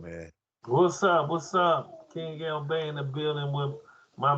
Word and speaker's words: Keng El Bey: Go to King L Bay as it's spelled.